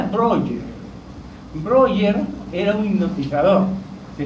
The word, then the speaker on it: Breuer: Ahí está como se escribe Breuer. Se pronuncia Breuer.